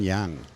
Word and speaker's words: Yang: I'm here with Taiwan news reporter Yang. Yang or Yang? What do we say? Yang. In Chinese, it's Yang. Yang, Yang, but right? When you pronounce it in English, it's Yang. Yeah. Yeah, So both works.